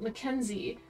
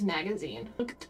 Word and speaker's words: Mackenzie: As a kid, I had these books, and I remember there was a character called Mackenzie, but as a kid, I pronounced that name as Magazine.